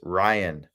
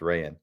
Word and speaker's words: Rayan: There he is, Ryan Petrovicki, but Rayan. It's pronounced Rayan.